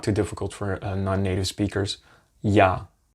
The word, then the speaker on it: я: The English equivalent of this would be like if you want to say the word for yacht, as in the big boat, yacht. The first one, how you pronounce the Y and the A after each other, ya. ya, ya.